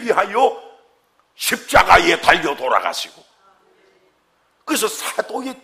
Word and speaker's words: 사도: 큰 소리로 사도. 뭐라고요? 발음 잘해야 돼. 사줘 그러면 안 돼. 과자 사줘, 차 사줘.